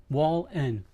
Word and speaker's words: Wallen: I've had people mispronounce my last name so many ways. It's like it how how w a len. That's it. Wallen.